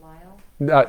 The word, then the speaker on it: Lisle: It's Lisle, isn't it pronounced Lyle?